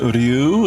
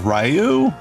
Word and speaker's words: Ryu: If if you said Ryu instead of Rayu, then bravo. But I don't remember. That's probably one of the more butchered names in Japanese by English speakers. Ken is easy. It's actually just ken, but r yu r yu. And people typically say rayu, which is awfully bad.